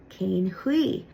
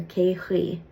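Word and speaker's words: cén chaoi: In Connacht, you'll hear cain hui. Or a lot of times the N in cane there won't be pronounced, and you'll hear ke hui, like ke hui will to.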